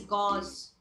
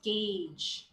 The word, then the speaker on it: gauge: is gauge this one the common eror is gauze or yeah or gge okay but this is guge okay don't confuse it with the medical gauze that's spelled with a z okay and then mango this